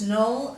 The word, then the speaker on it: knoll: So let's read the words knoll, knave, knack, need, knapsack.